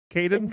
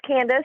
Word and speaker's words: Candace: right up the front I Candace Candace Cadence it's okay it's Candace my best friend Sarah